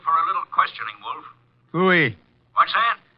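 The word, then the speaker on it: pfui: Wolf fooy. What's that? Fooy. It can be spelled in several ways. I spell it f ui.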